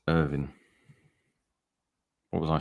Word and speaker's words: Irvine: Collective terrible performance that Rodriguez played in it's pronounced Irvin what was I saying Irvine I one PTI